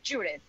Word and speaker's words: Judith: the point Judy but it's with th at the end so it's Judith that's how you pronounce